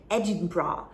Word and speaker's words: Edinburgh: the capital of scotland listen to my pronunciation edinburgh so i was traveling